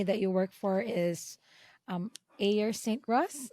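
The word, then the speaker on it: Ayers Saint Gross: So the name of the company that you work for is Ayer St. Ross. How did I Yes. pronounce that correctly? Yeah, Air St. Gross.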